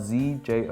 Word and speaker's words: Zjozjoli: - It's spelled Z-J-O-Z-J-O-L-I. Zjozjoli? - Perfect! - No, is that right? - That's exact, zjozjoli.